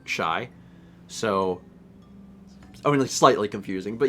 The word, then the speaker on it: Chi: In my defense, we have, I think, actually at least 2 other users who have CHI as their username, and it's pronounced, like, shy.